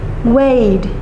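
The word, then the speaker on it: weighed: Vậy thì thêm đôi ed chúng ta sẽ phát âm là gì? Wayed.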